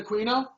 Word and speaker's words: Aquino: High up in the satanic community, is it Aquino? That's how you say his name. Michael Aquino?